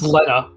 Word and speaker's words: Lena: It's actually pronounced Leta because she's Swedish.